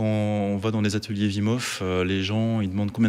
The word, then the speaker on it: Wim Hof: On prononce Wim, du coup. Oui, on dit Wim Hof. D'accord. Voilà. Wim Hof. Wim, c'est son prénom et Hof, c'est son nom de famille.